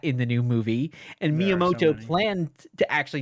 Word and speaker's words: Miyamoto: Nintendo you know do you know how to pronounce his name um shiguro miyamato Miyamoto I mean everyone knows Miyamoto I mean nerd